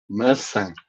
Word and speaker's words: maçã: Basically, the first A is very weak as usual, and Yeah. then the second A, you see that he has a tilde. This is how you say it.